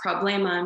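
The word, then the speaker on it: проблема: for example the word problema and russian is pronounced problema meaning problem and some other example of words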